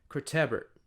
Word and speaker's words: Cortebert: The accent is on the E, so that one has the emphasis, I think. So it's Cortebert. It sounds French, so we will see.